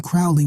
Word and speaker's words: Crowley: She pronounced magic with a long A and Crowley with a long O like bird.